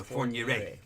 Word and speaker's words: Fourniret: It's Fourniret. Fourniret. But like I said, I'm not gonna pronounce it.